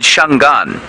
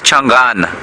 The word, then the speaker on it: Changana: language anguage even the even the word shangan shangan is incorrect um and that's you know people will say that the language people speak here is shangan but if you hear a shangan person say it they'll say it changana and changan there's a very slight a on the end of it and so yeah shambalana